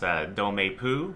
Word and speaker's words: Dans ma peau: I think it is pronounced Dans Ma Peau, or In My Skin.